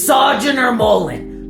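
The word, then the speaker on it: Sojourner Mullein: I don't even want to try pronouncing Joe's name and writing all of that down today. Oh, it's okay. It's Sojourner Mullen.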